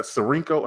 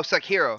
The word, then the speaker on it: Sekiro: The Sarinko. How do you pronounce it? Oh, Sekiro.